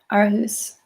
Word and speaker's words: Aarhus: Thank you for validating my pronunciation, Aarhus.